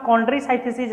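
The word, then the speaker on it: Chondrichthyes: अब इसका नाम कॉन्ड्रिसाइथेसिस रख दिया। कॉन्ड्रोज का मतलब होता है कार्टिलेज, और आइसिथीज मतलब आई साइलेंट होता है जिसको बोलते हैं, साइथीज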